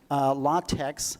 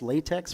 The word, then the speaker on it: LaTeX: Now, if you want something with better formatting, LaTeX, I know I called this latex for a long time, but I guess the proper pronunciation is LaTeX.